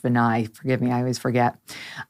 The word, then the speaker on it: Vinay: of an A's it's spelled vinay but it's pronounced benai forgive me I always forget um on his